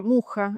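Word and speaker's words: Mucha: de 1910 de Alfons Má, un artista eh checo que trabaja mucho, yo lo pronuncio en francés porque trabaja mucho en Francia, Muja es en realidad su pronunciación correcta.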